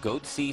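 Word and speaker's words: Goatse: getting the goatsy picture they're called goatsy security is that my pronouncing that correctly yeah that's right we're analyzing coverage from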